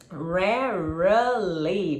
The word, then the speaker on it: rarely: Porque quando a gente lê em português parece que tem 3 sílabas, né? Rarely, parece que tem 3. Mas na verdade só tem 2 sílabas. Vai ser rarely, rarely. Você não vai pronunciar a letra E que tá no meio. Você não pronuncia.